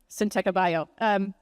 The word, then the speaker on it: Syntekabio: I'll say it a bunch of times so everyone will learn the proper way to say Syntekabio.